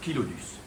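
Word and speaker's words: Chilodus: kilodus parce que kilo ça vient du grec et ça veut dire lèvre et donc voilà on prononce kilodus.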